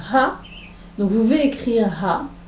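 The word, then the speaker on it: הַ: Quand le He se trouve au début d'un mot, il signifie ha, il se prononce, pardon, ha.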